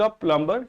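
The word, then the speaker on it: plumber: not gone to द प्लंबर यट बेटा प्लंबर में B silent है तो प्लबर बोलते हैं प्लबर यट अभी तक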